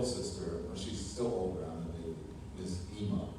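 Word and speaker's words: Yma: And my middle sister, she's still older, is Ema. Ema. And it's unique spellings. And so, Y-M-A, like Ema Sumac, yeah.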